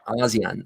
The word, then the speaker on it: ASEAN: ASEAN.